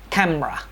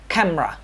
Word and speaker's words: camera: ကe ဆိုတဲ့စကားလုံးကြာတာပေါ့နော် me ပေါ့နော် e ဆိုတဲ့စကားလုံးကိုမြုပ်လိုက်တော့ camera ဆိုတဲ့အတန်ထွက်အမှန်ထွက်လာပါတယ်အတန်ထွက်အမှန်ကတော့ camera မဟုတ်ပါဘူး camera အတန်ထွက်အမှန်ဖြစ်ပါတယ်အဲ့တော့ကျွန်တော်အခုဆွေးနွေးသွားတဲ့စကားလုံးလေးတွေရဲ့အတန်ထွက်အမှန်ကိုထွက်ဆိုနိုင်မယ်လို့နားလည်ပါတယ် second syllable ကို drop လုပ်ပြီးတော့ဆိုရတဲ့စကားလုံးလေးတွေဖြစ်ပါတယ် Thank you so much